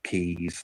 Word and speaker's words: Quays: So key is just plural. Keys is just plural of key, and a key is a like a feature of a port.